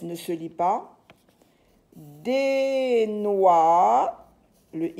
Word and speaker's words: noix: Des noix, le X ne se lit pas. Ça, c'est le son OA. OI se lit OA. Des noix.